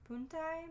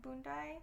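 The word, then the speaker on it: Punti: the boondai puntai bundai it's spelled with the B but it has a p i don't know but which meant and the parenthetical was like p-u-n-t-i but I think in Cantonese it's like b-u-n uh hyphen d-a-y ah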